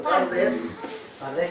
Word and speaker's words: Pardes: Bueno, que aquí ellos tienen un acróstico que se pronuncia así en español, Pardes, que significa bosque, y